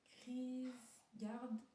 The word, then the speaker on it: Kierkegaard: Alors, la prononciation, Kierkegaard.